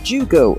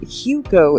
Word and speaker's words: jugo: In the example Google provided, for instance, the speaker pronounced the Spanish word for juice as jugo with the English J sound instead of with the Spanish J sound, so Translate spells it out as Hugo in its pronunciation suggestion.